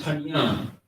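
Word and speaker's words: פנים: So the word is panyam, panyam.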